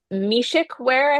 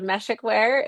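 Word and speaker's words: Meshech Weare: So, this is a really fun question because um I I learned last I presented that I was mispronouncing um it's Mishikwear, I believe, instead of Meshikar.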